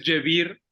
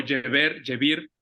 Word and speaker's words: Jabir: Él se escribe Geber, normalmente es Jebir o Jebir, y él es el más importante de todos.